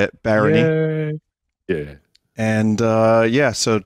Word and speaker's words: Barony: me for Barony that's how you say it Barony yeah and uh yeah so check out Dave